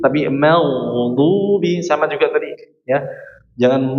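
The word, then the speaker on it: المغضوب: Jangan sampai diucapkan mag tapi diangkat ke atas. Mag jangan magdubi tapi magdubi.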